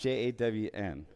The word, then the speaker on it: jawn: It's pronounced Jawn.